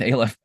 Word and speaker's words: aleph: that's a little aleph some people pronounce it alif but i don't like that so i'm going with aleph and then the little